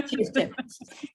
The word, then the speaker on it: Circe: Well, getting instead to Circe, I pronounce it the Italian way. Yes. Yeah, Circe.